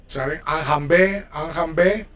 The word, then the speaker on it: enjamber: Okay, let's go with enjamber. So we're working with verbs ending in er. We cut the r and we pronounce the e in the infinitive.